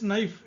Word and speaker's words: knife: And the last one is knife. You take knife, K-N-I-F-E, knife. So K is silent here.